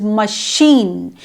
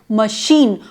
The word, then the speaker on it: machine: CH sounds like sh such as machine we write m a c h i n e but we pronounce as sh m m not Machin but machine or Chicago CH IA